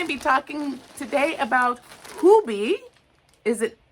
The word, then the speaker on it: Hobbii: So, we are going to be talking today about Hubie. Is it Hobby or Hubie? I know it's not hobby. That's American. Get that out of your mouth. is not hobby. Pronounce it the hubie. Hobie, you guys.